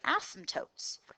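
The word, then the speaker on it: asymptote: y intercepts all right here's our new vocabulary ASM tootes that word is pronounced once again ASM toote okay so we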